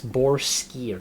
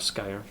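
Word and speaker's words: Boareskyr: It's Borskir, not Skyer.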